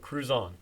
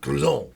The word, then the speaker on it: Kruszon: say the correct pronunciation it's like cruise on down the road cruise on cruise on not Cruiser no I mean you